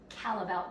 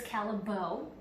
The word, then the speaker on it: Callebaut: It is made by our Belgian line, Callebaut chocolate. Another acceptable pronunciation is Callebaut. A non-acceptable pronunciation is Callebaut. Don't say that.